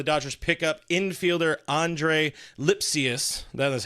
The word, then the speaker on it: Lipcius: the show the Dodgers pick up infielder Andre lipus that is how you pronounce it had to look that one up